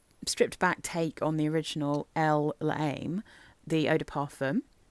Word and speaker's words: Elle: And when I say Elle, literally the letter L, that's how you know it's one of the eau de toilettes.